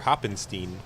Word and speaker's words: Hoppenstein: Hoppenstein. Mm-hmm. I can't pronounce words properly because he had to send me a tweet that said, P.S. It's pronounced like Frankenstein, Hoppenstein.